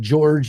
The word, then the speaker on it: Jorge: The only thing is that George is spelled Jorge. He was named by my daughter. And instead of Jorge, like it would be in Mexico or Spanish or whatever, if that was their